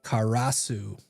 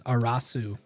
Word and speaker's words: Karasu: Also, if I mispronounce your name, feel free to be like, "Yo, dude, it's not K. It's not Karasu. It's a Karasu or I don't know." The K is silent. It's Arasu.